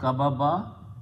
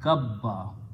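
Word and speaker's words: كبّ: It will be pronounced not kababa, but kabba.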